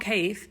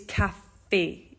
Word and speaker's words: café: So the line above the E tells us that it's not cave, it's café, okay?